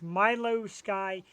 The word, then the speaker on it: Milou Sky: It's Milio Sky.